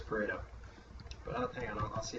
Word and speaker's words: Pareto: Pareto. He was Italian. I'm sure it's Pareto.